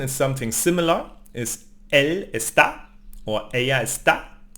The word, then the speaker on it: está: La tercera the third person is something similar, is él está, or ella está, or usted está, no? So we stress the A here.